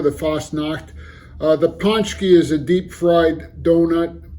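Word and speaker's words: pączki: year is the uh ponki although it's spelled a little differently than it's pronounced I believe the singular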